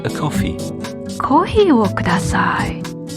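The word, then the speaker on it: コーヒー: careful with the pronunciation although it's an english word we say kohi so kohi o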